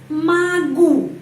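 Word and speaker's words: могу: Alet huruf ya ya Terus magu magu kenapa O dibaca a karena penekanannya berada pada huruf u karena itu O dibaca a magu magu ya penekanannya pada huruf u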